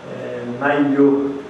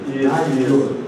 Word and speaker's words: Naylhor: Naiyo. LH funciona como Yoyo. Naiyo. R no final.